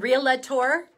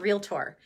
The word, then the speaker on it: realtor: a hard time is it real lead tour or is it real tour you'd be amazed at how many realtors think that they are a realtor they are not they are a realtor two syllables not three real tour phil dunphy